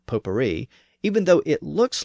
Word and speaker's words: potpourri: It's pronounced in the French manner, potpourri, even though it looks like potpourri, because it has that word pot in it.